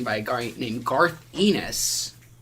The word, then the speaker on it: Ennis: book was written by a guy named Garth Ennis. It's a really gross sounding name. Garth Ennis wrote probably my favorite comic.